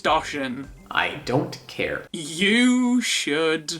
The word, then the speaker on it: Doshin: One of the most obvious games to jump to that didn't come to the States is Doshin the Giant. It's pronounced Doshin.